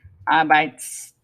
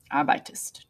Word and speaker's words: arbeitest: If we were going to make it with do, we would add an ST. Arbeits. Okay, it's hard to pronounce. So they put an E in there. Arbeitest.